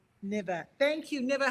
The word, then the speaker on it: Nava: N will you pronounce it for me? It's ne uh the name is NAVA. Hi, Reverend Liz. Nva, thank you.